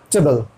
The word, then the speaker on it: vegetable: लगा के बोलते हैं, वेज, वेज, वेज, वेज, वेजिटेबल, वेजिटेबल, वेज ही नहीं, ध्यान सुनिए मेरे प्रोनाउंसिएशन को, मेरे मुंह पे ध्यान रखिए, वेजिटेबल,